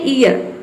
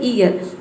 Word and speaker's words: ear: देखिए नेक्स्ट है ईयर, ईयर means होता है कान।